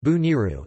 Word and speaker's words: Boneiru: Bonaire, pronounced or Dutch Bonaire, pronounced Bo-N-R, Papiamento, Boniru, pronounced Bu-Niru, is an island in the leeward Antilles in the Caribbean Sea.